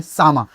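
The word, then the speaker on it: Txama: artist का नाम है सामा टी एक्स ए एम ए और वैसे प्रोनाउंसिएशन में सामा जो कि जाते हैं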